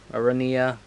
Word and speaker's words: Aranea: So, yeah, Arania, or however you pronounce it. Commodore Aranea Highwind.